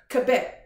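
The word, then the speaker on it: כבוד: Hebrew the the word glory is is is pronounced cabet and there's many different reasons for kabet but there's there's one of them that caught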